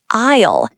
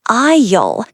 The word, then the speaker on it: aisle: Now, the main word isle. It sounds like isle. The s is silent.